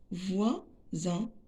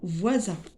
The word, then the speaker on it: voisin: On prononce S ici Z parce que S entre deux voyelles.